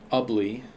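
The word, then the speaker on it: Ubly: Locations impacted include Badax, Sandusky, Harbor Beach, uh Ugly, it's like ugly. I remember that pronunciation from last time.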